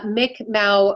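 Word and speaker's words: Mi'kmaq: uh mick i i don't know if i'm pronouncing it properly uh mick mao warrior that's right yeah yeah that's our first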